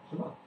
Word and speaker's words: Shema: Shema. No grumpy H. No like you are. Oh, right. Yeah. Yeah, Shema. It's a pretty simple word. So. Yeah. Actually, technically, there's a silent letter after the A.